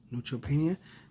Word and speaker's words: neutropenia: How do you say that? Neutropenia? Mm-hmm. Neutropenia.